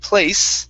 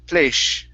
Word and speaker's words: place: a little bit okay so when you said the word place instead of pointing your tongue down okay towards the bottom of your teeth it was up a little bit so it sounded like fleisch okay because when you say